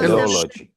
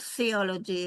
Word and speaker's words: teleology: Teleologia in Hebrew, because teleology. there is it's not theology, it's teleology. Theology. Teleology. Teleology.